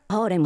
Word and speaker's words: harem: Harem, harem, harem. That's how they say harem in Japan, where the harem comedy was invented. Also, even in English, it's a loan word anyway, and the original Arabic pronunciation's closer to harem.